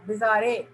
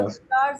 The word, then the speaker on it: bizarre: कोई बोलने वाला होगा, इसको कैसे पढ़ेगा? बिजारे, लेकिन ऐसे नहीं. लेकिन this is a word which means strange, unusual, not real. It वाज अ बिजार site, अजीबो-गरीब. और प्रोनाउंस करेंगे आप हिंदी में उर्दू में लिखिए, हिंदी में लिखिए बिजार.